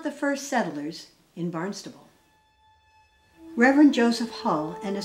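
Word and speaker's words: Barnstaple: a striking resemblance to barnstable pronounced with a b but spelled with a p england reverend lothrop and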